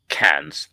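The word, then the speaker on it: Cairns: And up north there's a town called Cans. It's pronounced with it cans, but there's an R in it, so it's spelled Kairens.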